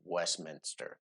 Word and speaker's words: Westminster: I know for a fact it is Westminster. Yeah. You don't pronounce nothing like it's written in England.